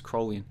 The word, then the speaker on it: Crowleyan: This is Crowleyan or Crowleyan magic. I keep mispronouncing it. It's Crowleyan. In Crowleyan magic, what does 93 mean?